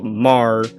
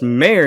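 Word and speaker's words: MÄR: i would call it when i was little mar uh like march my my birthday month but it actually pronounced mayor because it's got this um lot above the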